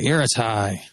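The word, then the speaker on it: Ertai: Ateri. He was on the Weatherlight. Didn't he die? No, he got Phyrexianized. Airtie. Yeah, Airtie.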